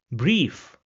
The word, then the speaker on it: Brief: And this is pronounced as e in English. So the word over here where we have the word combination will be pronounced as brief which means letter.